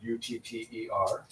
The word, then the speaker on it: utter: Everyone pronounces both those words as udder. I'm utterly exhausted. Uh-huh. That cow has an udder. And the one is TT, one is TD. Uh-huh. And people will think like, oh no, they should be pronounced differently. We're just kind of being sloppy and lazy in our pronunciation. not. So people will be like, no, utter versus udder. It is not. The sound there is called a velar flap.